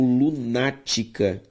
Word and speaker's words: lunática: Palavras proparoxítonas, gente, é quando a antepenúltima sílaba da palavra é tônica. Por exemplo, uma palavra como lunática.